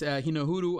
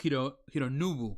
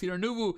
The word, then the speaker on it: Hironobu: Final Fantasy, which is Hinohuru Sakaguchi. No, it's Hironobu. I'm sorry, I mispronounced it. It's Hironobu Sakaguchi.